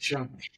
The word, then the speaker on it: Shay: I don't think it's and when he told me about her, he was like, "Yeah, her name is Shay, but it's Oh pronounced Shy."